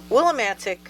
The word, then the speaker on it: Willimantic: all about yeah so oh Willimantic happens to rhyme with the word romantic romantic woman and so